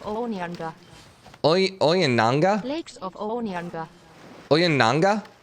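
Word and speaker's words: Ounianga: Oyananga is kind of what it sounded like.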